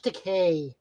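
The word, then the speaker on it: Takei: sulu um mr george to key i keep on i take a take george decay it's okay i always got married i always got to make sure to pronounce the eei at the end um again representation absolutely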